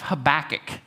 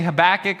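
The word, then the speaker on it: Habakkuk: Uh so Habach, most people either say Habach or they say Habacook.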